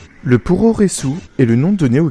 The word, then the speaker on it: puroresu: le pouroressou est le nom donné au catch japonais pouressou est une dérivation de la prononciation japonaise de pro Westling qui signifie littéralement catch